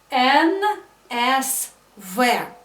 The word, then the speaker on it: НСВ: Обратите внимание, как я произношу это. НСВ.